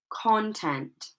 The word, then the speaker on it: content: So if we're placing stress on the first part of the word because they are nouns, the following words will sound like this: decrease, content.